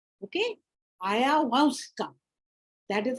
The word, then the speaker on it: Ayahuasca: So I have put for you this concoction, Aya, now how it is pronounced, Ayahuasca. Ayahuasca. Okay? Ayahuasca.